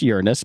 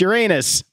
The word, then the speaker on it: Uranus: I know it's pronounced Uranus, but come on, it's Uranus.